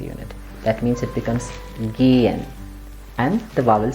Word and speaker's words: gehen: When you see a vowel followed by a ha, you have to pronounce the vowel long, as in this word. The word is gehen.